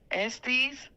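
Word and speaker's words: Esteves: I don't know how to pronounce his last name. Esties. Jason Estes.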